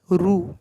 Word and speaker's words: ऋ: इसे पढ़ेंगे रू, इसे पढ़ेंगे रू। ऋषि लिखा जाता है इससे, ऋषि, ऋषिकेश, जिसके भी नेम आते हैं ये इससे लिखा जाता है रू।